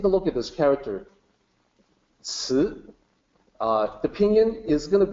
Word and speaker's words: 慈: So even this is, TSI is not that close. English speaker might say ci. So that's kind of closer. It's closer. It's better than the other possibilities. But the actual pronunciation, 慈, kind of tricky. No good equivalent in English.